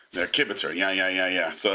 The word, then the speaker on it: kibitz: It's kibitz.